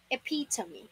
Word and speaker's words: epitome: the word number 11 is this epitome epitome not epitome appear to me again say after me appear to me appear to